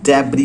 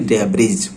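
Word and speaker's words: debris: एक चीज और याद रखेंगे कि इसकी जो प्रोनाउंसिएशन है वो डेब्री होता है, ना कि डेब्रिज, राइट। एस यहाँ पर साइलेंट होती है, सो आप पढ़ेंगे इसको डेब्री, यानी कि मलबा में दब चुका है।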